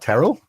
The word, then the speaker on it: Terrell: And you pronounce my name correctly. What is that about? Uh, what? Terrell?